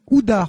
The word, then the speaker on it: Oudaert: Houdart, on prononce pas le T.